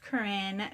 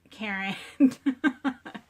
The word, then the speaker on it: Corinne: Yes, it is spelled correctly in my channel, and it's pronounced Corinne, not Karen.